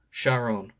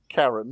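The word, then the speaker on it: Charon: Sharon. Karen? Like, Dante cannot pronounce it either. Karen.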